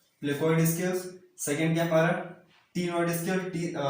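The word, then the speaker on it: ctenoid: पहला क्या हमारा प्लेकोइड स्केल्स, सेकंड क्या हमारा टीनोइड स्केल, सी साइलेंट रहेगा यहाँ पे, तो प्रोनाउंस क्या करेंगे हम, टीनोइड स्केल करेंगे।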